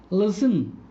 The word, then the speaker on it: listen: That they have a silent T. Silent T. Listen, soften, castle, often, which. Here the sound of T is silent.